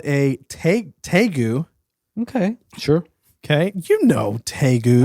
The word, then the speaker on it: tegu: But now we have this giant lizard called a tegu. Okay. Sure. Okay, tegus. Oh, I didn't know it was pronounced like that. Taigu is how I pronounce it.